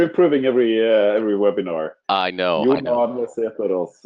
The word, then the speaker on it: Sæterus: Johan Sæterus is the correct way to pronounce it.